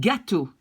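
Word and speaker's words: gâteau: mix the word a present which you will pronounce like ka do like this okay and gato gatu here which is a cake which is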